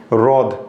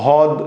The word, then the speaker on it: হ্রদ: এই শব্দটাকে অনেকে ভুল করে উচ্চারণ করে। যেমন যেন মানে যেহেতু হ এর নিচে র ফলা এটাকে অনেকে হদ বলে উচ্চারণ করে যেটা ভুল উচ্চারণ।